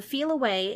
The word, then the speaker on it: Feliway: But the Feel Away, it's spelled Feliway, and the Feel Away